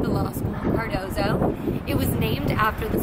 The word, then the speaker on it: Cardozo: Cardozo, yep.